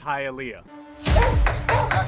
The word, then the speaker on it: Hialeah: It's pronounced Hialeah. They mispronounce it in the thing. Hialeah is a Native American word. Now it's pronounced Hialeah, you know, because it's in Spanish.